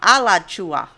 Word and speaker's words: Alachua: No, Alachua. He sounds so I think that might be right north now. or even middle of us. It doesn't matter. Lachula? No, Alachua.